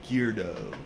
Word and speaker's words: geardo: I was what they call a geardo, right? Rhymes with weirdo, right?